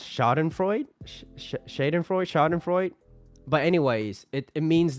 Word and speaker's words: Schadenfreude: I think it's pronounced Schadenfreude.